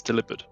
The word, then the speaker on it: Delibird: Delibird is everyone has been mispronouncing it, and it's delivered.